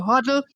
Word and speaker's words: Hudl: Did I pronounce that correctly? Yes, you got it right. Great. So Hudl, that's Hudl.